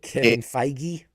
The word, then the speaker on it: Feige: Kevin Feige.